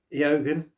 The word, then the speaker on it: Eogan: Yeah, Eogan is how you pronounce that.